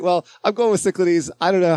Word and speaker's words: Cyclades: Oh, wait. Cichlides. Yeah, you'd think, right? Cichlides. Uh, some people say Cyclades. That's right.